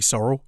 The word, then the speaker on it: Sorrell: Hi, I'm Sorrell. Oh, balls, I've been saying it wrong the whole time. Sorry, Sorrell.